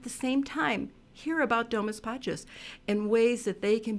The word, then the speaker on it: Domus Pacis: Domus Pacis is Latin for house of peace, and the thing to remember is always think about softness. Domus, do, like a deer, moose, like a moose, which we all know about.